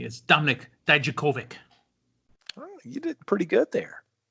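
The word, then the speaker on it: Dijakovic: and again uh because i've been challenged to pronounce his name correctly is dominick daijokovic you did pretty good there go and ask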